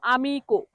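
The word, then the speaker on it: amico: তো এটাকে যখন মানুষ ভুল উচ্চারণ করে তখন কি বলে? আমি কই, আমি কই। হ্যাঁ, আমি কই, এরকম আমি কই, কয় ওকার রস্যই লাগায় আমি কই, কিন্তু এটা ভুল উচ্চারণ হবে, এটা সঠিক উচ্চারণ হবে আমিকো।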